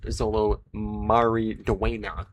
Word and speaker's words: Xolo Maridueña: But yes, we have Man of Tomorrow continues to grow its cast with Xolo Maridueña. That is how you pronounce his name.